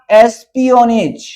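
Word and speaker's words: espionage: Focus on internal security and counter terrorism, prevent cyber threats and, इसका उच्चारण क्या होगा? एस्पियोनेज, एस्पियोनेज पर नियंत्रण रखता है।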